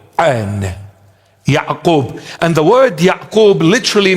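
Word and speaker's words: ܝܥܩܘܒ: In the original text, in the original language, or in Syriac Aramaic, it is pronounced Ya'qub. Ya'qub. An. Ya'qub.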